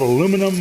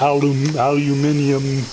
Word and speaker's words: aluminum: But I heard it called aluminum my whole life, and that's all I know. And I'm not going to start calling it aluminium, whatever. Too many syllables.